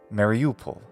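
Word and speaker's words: Mariupol: patterns of English speech I nevertheless recommend placing the accent on the same syllable as in Ukrainian so I call these cities sevastopol mariupal mellitopel and that way they also sound like Constantinople Crimea is also home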